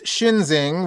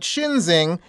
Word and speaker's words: Schinzing: We should note that Shinzing is not exactly a common name. It's spelled Schinzing. I bring up his name because the shirtless Shinzing stood out among about